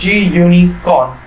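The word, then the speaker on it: gunicorn: So right here, pip install GUICon, right, G-Unicon, that is, okay, it is pronounced as G-Unicon.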